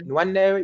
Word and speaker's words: Nwaneri: Sorry, I can't pronounce his name right. Ethan Nweri. Yeah. Nwaneri, yeah.